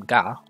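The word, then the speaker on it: ガ: you add duct tape this is ga or ga you pronounce this as ga like in the word garden write car as normal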